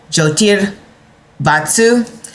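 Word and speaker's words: Jyotir Vastu: Joti Vatsu. That's spelled J Y O T I R V A S T U. So, Jotier Vatsu.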